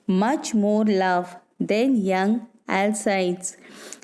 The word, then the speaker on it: Alcides: more love than young alcides some pronounce as l sides and some as lcd lcds actually it is another